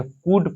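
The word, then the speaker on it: could: के एफ से पहले एल आता है तो एल साइलेंट रहता है क्या पढ़ते हैं शड पढ़ते हैं वड पढ़ते कुड पढ़ते हैं ठीक यह थी उचार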